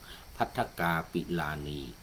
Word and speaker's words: ภัททา กปิลาณี: ใน ส่วน ของ ชีวิต สมรส เขา ได้ แต่ง งาน กับ ภัททา กปิลาณี — โอ้ ฉัน ออก เสียง ผิด ไป ก่อน หน้า นี้ ภัททา กปิลาณี — ตาม ความ ประสงค์